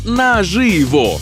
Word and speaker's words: наживо: А от і Ні це у слові наживо наголос на и а от у слові